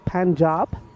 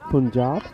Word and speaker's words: Punjab: I'm saying it right it is panjab not Punjab getting ready for the